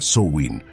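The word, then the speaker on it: Samhain: Como estás conociendo, todo comenzó con el festival de Samin, que se pronuncia Soin, celebrado por los celtas hace más de 2000 años.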